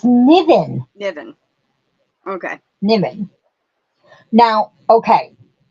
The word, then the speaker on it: Niven: I don't know how you pronounce that. Niven? It's Niven.